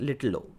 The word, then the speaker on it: little o: low function okay so this is pronounced little o little o so this second perspective